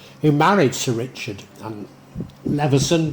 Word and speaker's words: Leveson: married Sir Richard and Leveson, but I think it's pronounced Lewis, his other niece, Alice,